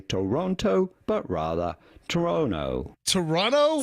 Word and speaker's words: Toronto: They simply ignore the T there, which makes it pretty straightforward. Once you know this, you can just say Toronto, Toronto. Pretty straightforward. Do not say Toronto, but rather Toronto.